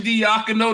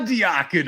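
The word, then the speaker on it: Daigneault: D's out there Mark Mark Archie deako thei it's not diako I know I know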